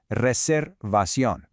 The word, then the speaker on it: reservación: Notice the pronunciation of that R in reservación. Try to give it just a little roll if you can. Reservación.